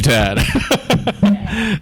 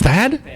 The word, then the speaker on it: Thad: Thank you, Thank you, Tad. Tad. Oh, sorry. It's Thad.